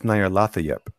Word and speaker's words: Nyarlathotep: It's Nyarlathotep.